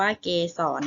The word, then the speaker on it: เกสร: นะ คะ คำ ว่า เกสร นะ คะ เกสร อ่าน พร้อม กัน ค่ะ เกสร นะ คะ รอ เรือ เป็น ตัว สะกด นะ คะ เกสร คือ